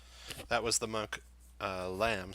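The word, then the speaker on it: Hlam: That was the monk Lamb, spelled H-L-A-M. The H is silent.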